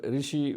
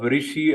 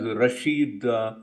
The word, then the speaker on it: Rishi: are being made on the way President Biden pronounced name of Rishi as Rasheed but that is one reference and then we